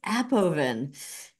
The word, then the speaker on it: Appoven: I Well, then you get to decide how we say it. it's Appoven.